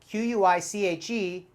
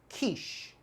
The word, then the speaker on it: quiche: and vegetables inside and it's very delicious so q-u-i-c-h-e quiche quiche word number two take a look it's